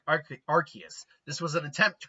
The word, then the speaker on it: Arceus: And a lot of people still pronounce it Arceus. I've always pronounced it Arceus, because his ability is known as the RKS system. It's kind of right in its ability is the name of the god that he's modeled after. He has the ability to change type like Arceus.